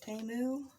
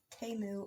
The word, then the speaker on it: Temu: Temu, I think is how you say it correctly.